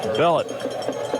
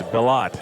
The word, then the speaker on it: Bellott: Aiden Bellett on the tackle for West Monroe. He gets in the ball game and makes Bellott is how you pronounce that last name. Excuse me. Hey, Bellott on the tackle.